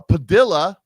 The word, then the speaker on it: Padilla: Her name is Her name is uh not plastic, but it rhymes with um uh Padilla rhymes with Armadilla.